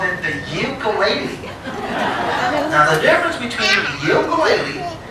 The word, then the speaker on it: ukulele: And everyone say ukulele. One more time. Now that is the correct pronunciation of this instrument.